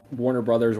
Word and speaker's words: Warner Bros.: I mean, I pronounce it Warner Brothers, Warner Bros. I don't like Warner Bros. Because that sounds weird, but if it's like on like the poster or whatever, it's Warner Bros.